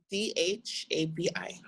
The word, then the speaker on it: Dhabi: D-H-A-B-I. Oh, I forgot the H, of course. Silent H, yes, of course.